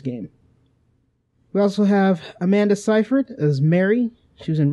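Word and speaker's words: Seyfried: in time and epic that's the correct way to pronounce that name by the way yes Amanda sigh 'fred ciphered Cathy Burke is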